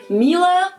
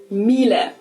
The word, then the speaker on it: Miele: wrong in English, but English native speakers usually say something like Miele. Never heard of this. So it usually sounds more like an A in the end, whereas in German we say Miele. So the last letter is just a little bit different.